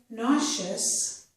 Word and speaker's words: nauseous: And in this word, nauseous, the letter S or SE is making the sh sound. This word, though, also has another pronunciation. It could make the Z sound.